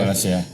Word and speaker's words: Wallacea: Indonesia memang terutama di garis apa ya bacanya Wales apa Wallacea itu ya. Wallacea.